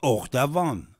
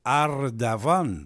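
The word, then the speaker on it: Erdoğan: Rajab TB h d'Avan il s'appelle pas hord d'Avan c'est hardavan par exemple Z c'est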